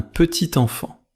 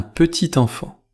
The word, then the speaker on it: petit enfant: Dans un petit enfant, le t final de petit se prononce devant enfant. Écoutez : un petit-t-enfant. Répétez : un petit enfant.